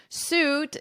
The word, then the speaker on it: suit: lot of mistakes suit ignore this spelling here imagine it's more of a ooh sound lawsuit lawsuit fraud now